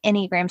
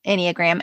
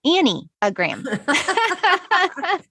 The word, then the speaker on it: enneagram: look when you google enneagram and by the way it's spelled e-n-n-e-a-g-r-a-m which is important to know because when i first heard it annie you'll appreciate this i thought it was annie a gram it should be that